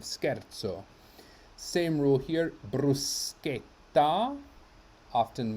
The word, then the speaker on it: scherzo: in the next word why is this because of the h scherzo where we have sc h which turns this into a k if it were just s c e we would have shea as in shame but we have scherzo rule here bruschetta often